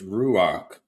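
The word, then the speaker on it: רוח: Holy Spirit is ruach with a kh sound.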